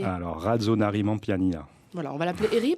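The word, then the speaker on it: Rajaonarimampianina: Il s'appelle Heri, je vous laisse le prononcer. Alors, Radzonarimanpianina.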